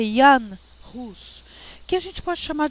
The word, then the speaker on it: Jan Hus: como John Wycliffe e Jan Hus. Vocês falam o J nas línguas europeias, queridos, principalmente alemão, no, sueco, ele não se pronuncia J, ele se pronuncia I, tá? Então é Jan Hus, que a gente pode chamar de João Hus, tá?